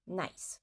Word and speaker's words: nice: Et je dis bien à l'oreille parce qu'il y a certains adjectifs qui ont deux syllabes à l'écrit. Par exemple, nice, qui veut dire bien ou joli. Nice. Mais en fait, à l'oreille, on dit nice. Donc c'est cela qui compte.